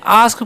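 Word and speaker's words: ask: हम क्या पढ़ते हैं आस्क पढ़ते हैं क्या पढ़ते हैं आस्क अस्क नहीं पढ़ना है ठीक है तो एक अचरण यहां पर आ होता है इसलिए हम क्या पढ़ेंगे आस्क ठीक है आस्क का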